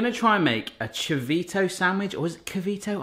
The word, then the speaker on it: chivito: Again, another thing that I probably not pronounce right. Dulce de leche. Dulce de leche. Chivito. Chivito.